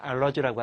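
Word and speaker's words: allergy: 알레르기라고 하는 것을 영어로 발음할 때는 알러지라고 하지.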